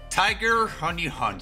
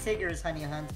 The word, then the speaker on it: Tigger's Honey Hunt: Tiger Honey Hunt, so I'm guessing some kind of Windows 95 or 98 game. It's pronounced Tigger's Honey Hunt, by the way.